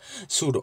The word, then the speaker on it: sudo: i can say like sudo okay you usually pronounce it like sudo fine next install is nothing but installation whatever